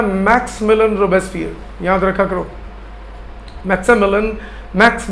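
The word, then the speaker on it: Maximilien: थे इनका लीडर था मैक्स मिलन रसियर याद रखा करो मैक्स मिलन मैक्स मिलन रो बस्फर आई साइलेंट हो जाता है मैक्सी मिलन नहीं कहा जाता max Milan roar so a large group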